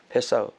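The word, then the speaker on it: פסח: 그래서 이게 명사형으로 페사흐. 그러니까 히브리 말은요, 동사나 명사가 철자가 똑같아요. 발음만 약간 달라요. 파사흐, 페사흐. 넘어간다.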